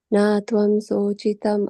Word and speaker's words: śocitum: jātasya hi dhruvo mṛtyur dhruvam janma mṛtasya ca tasmād aparihārye rthe śocitum arhasi. Śocitum. śocitum. Sho, it's like a S with the accent.